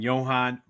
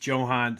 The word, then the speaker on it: Jhohan: And I know a lot of people are saying Jhohan, but I've looked it up and made sure he prefers it being pronounced Jhohan, so I'm going to call him Jhohan.